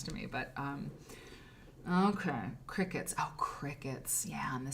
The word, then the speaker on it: Cricut: magazine editing it's fantastic cry cut okay oh Cricket oh Lillian I'm sorry they're pronounced qriket they cut fabric for you oh the Cricut the Cricket cutters then what was in my mind is cry cut there's something I mean